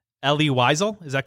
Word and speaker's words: Wiesel: laureate, I'm going to butcher this name, Elie Wiesel. Is that correct? Did I pronounce that You're right? close. Wiesel, I believe, is the correct Wiesel, okay.